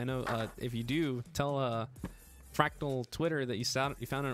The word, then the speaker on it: Fractal: I know if you do, tell Fractal Twitter that you found on Origin PC Live, and I'll be happy about that. And don't tell them I mispronounced fractal and I said fractical.